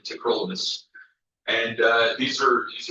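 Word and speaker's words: tacrolimus: It's not cyrolymus, it's not tacrolymus, it's cerolamus and trollamus.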